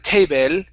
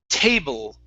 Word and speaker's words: table: Okay, the way that we pronounce that, we don't say el or el. Okay, it's ul. So instead of table, it's table.